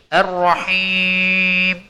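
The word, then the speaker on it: الرحيم: yang keluar dari sana Jadi kita tidak boleh membaca huruf H masuk ke dalam rongga hidung sering kita dengar sebagian kita mungkin membacanya dengan roh nurrahim seperti itu Nah cara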